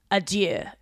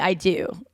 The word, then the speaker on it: adieu: Yeah, like you're not even saying it right. You're saying I do.